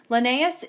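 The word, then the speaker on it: Linnaeus: here's a picture of lenus that's how you pronounce it lenus is famous for coming up up with the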